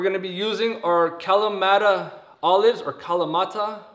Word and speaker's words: Kalamata: to be using are Kalamata olives, or Kalamata, or as I was searching online, figuring out how to say this word, it's a Greek word and it's Kalamata, like that. Something like that.